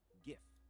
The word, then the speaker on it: GIF: preferences yes but generally GIF with a hard G is the more commonly accepted pronunciation among the public all right you prounce